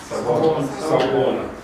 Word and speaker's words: Sawubona: Sawubona. Okay, so someone said it without the A at the end. Okay, so you can actually leave that off.